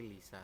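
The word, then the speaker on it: 리사: real seperti itu ya, tapi dibacanya bukan Risa tapi Lisa, seperti itu ya, Robun, untuk pengecualiannya ya.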